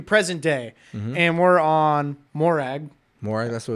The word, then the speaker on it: Morag: It's a soft A.